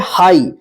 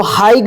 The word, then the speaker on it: high: क्या रहता है GH का उच्चारण नहीं होता है।